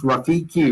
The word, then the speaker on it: Rafiki: And you did pronounce Rafiki right.